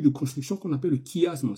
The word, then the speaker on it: chiasme: construction qu'on appelle le chiasme. Ça s'écrit chiasme, ça se dit chiasme en fait.